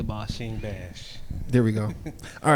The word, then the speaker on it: Bash: Is it Bash or Bosh? King Bash. All right, Bash. so say King Bash. King Bash. Give me that. Say Bosh. King Bash.